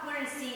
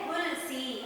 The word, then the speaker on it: हुलसी: तो माता का नाम था हुलसी, यानी हुलसी। आपको मेरे जैसे ही प्रोनाउंसिएशन करना है, मैं जैसे उच्चारण करती हूँ वैसे ही उच्चारण करना है बच्चों।